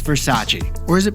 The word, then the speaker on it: Versace: For our second story, it's Versace. Or is it pronounced Versace?